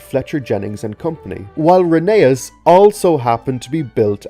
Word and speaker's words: Rheneas: It's pronounced Rheneas in the TV series and...